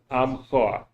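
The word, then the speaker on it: עמך: amcha. Yeah. Amka, There's the ayin which is silent with the ah. The mem, the vowel was silent under it, and the cha at the end.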